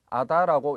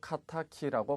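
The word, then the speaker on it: 仇: 자, 원수라는 의미인데 발음이 두 가지가 나옵니다. 아다라고 읽어도 되고 카타키라고 발음을 하셔도 됩니다.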